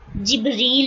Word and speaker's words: جبریل: اس کا تلفظ جو ہے نا جبریل بھی ہے، ایک جبرائیل بھی، اور اس کے تلفظ جبریل اور میکال بھی ہے.